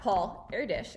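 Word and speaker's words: Paul Erdős: be pictures of him everywhere basically so that's paul airdish as we have learned how to pronounce and now you're gonna answer the questions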